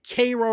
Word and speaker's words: Cairo: the city of Cairo here they call it Cairo right it's Cairo.